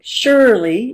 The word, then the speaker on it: Shirley: My name, Shirley, if you listen to it, it has two syllables, Shirley, and the first syllable is stressed.